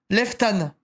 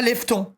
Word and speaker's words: Leftan: Bah, juste l'un cas, ça se dit Leftan, pas Lefton, car c'est dégueu comment tu prononces.